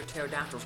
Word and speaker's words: pterodactyl: How come you never hear pterodactyls go to the bathroom? Because their pee is silent.